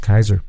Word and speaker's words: Caesar: caesar actually was julius julius and what about pronounced kaiser yes cicero would have been pronounced kikiro that's